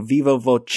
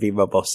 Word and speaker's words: viva voce: in the second category, so thank you, viva voce, instead of viva voce, as I said.